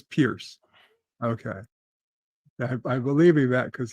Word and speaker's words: Piers: Do you know have any idea? No, I'm not aware. Yvette says I'm correct. It is Pierce.